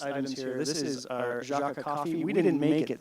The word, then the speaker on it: Jâca: It's Jâca. And it's hard to say. We tried to make it a little easier with that cool accent symbol over the A, but actually ended up making it harder.